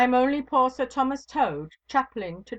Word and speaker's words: Tode: "Ay me, Sir Thomas Tode." He pronounced the word as though it had been the name of the foul beast that squats on its belly.